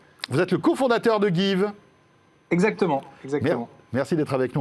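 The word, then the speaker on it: Geev: Voilà, ça s'appelle Give. Give comme to give en anglais.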